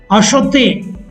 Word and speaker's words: acheter: The pronunciation of the infinitive is acheter, acheter. But in the conjugation, the pronunciation becomes j'achète. After adding E grave accent,